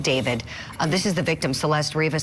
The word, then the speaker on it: D4VD: Even though he spells it weird as an artist, D4VD, he pronounces it David.